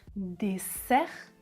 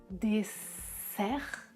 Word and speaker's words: dessert: la différence des sœurs des heurs trisème paire dessert désert dessert déser des der et enfin la dernière ils